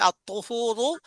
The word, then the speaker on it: الطهور: ত দিয়ে আত-তুহুরু, ত মোটা করে উচ্চারণ করতে হবে, আত-তুহুরু শাতরুল ঈমান।